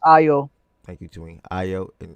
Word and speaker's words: Ayo: It's pronounced Ayo.